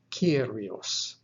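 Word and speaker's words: κύριος: examples the first one kappa ipsilon iota omicron sigma pronounced kyrios the greek word for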